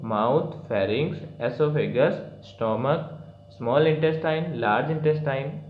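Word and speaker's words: oesophagus: एसोफेगस, इसका pronunciation ई से start होता है, ध्यान से देखो तो, लेकिन इसकी स्पेलिंग ओ से स्टार्ट होती है, ओ साइलेंट रहता है.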